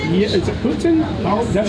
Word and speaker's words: poutine: Is it Putin? That's how you pronounce it. Putin?